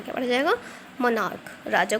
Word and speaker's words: monarch: अब यहाँ देखिए MONARCH, तो यहाँ मोनार्च नहीं मोनार्क पढ़ा जाएगा, क्या पढ़ा जाएगा, मोनार्क, राजा को कहते हैं मोनार्क।